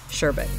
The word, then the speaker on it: sherbet: and a lot of us will announce it sherbert sherbert ice cream but the actual correct spelling of that is SH er Det and the pronunciation for that is sherbet and it's really weird but anyways it this